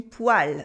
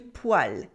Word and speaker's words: poêle: Yes, it is une poêle, a frying pan, une poêle. And it's a funny word with a strange pronunciation. Here the E sounds like a A, une poêle, une poêle.